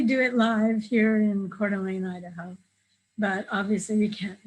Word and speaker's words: Coeur d'Alene: Shelley also has a social media um, summit, uh, social media Coeur d'Alene, right?